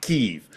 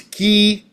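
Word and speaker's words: Kyiv: First and foremost, it is a 2-syllable word. It is not Kiev. It is Kiev. It's not Kiev. That's the Russian.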